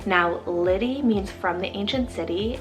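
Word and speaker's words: Liddie: this similar sound so i have the name liddy lissy and lenny so l i d d i e double s i e or double n i e now liddy means from the ancient city it's a short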